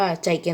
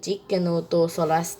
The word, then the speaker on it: Giganotosaurus: โอ ลัส นะ ครับ คน มา จะ ออก เสียง ตัว นี้ ผิด ว่า ใจ แก นะ ที่ จริง มา ชื่อ จิกแกนโนโตซอรัส นะ ครับ เป็น ใน โนเสา ตระกูล ค่ะ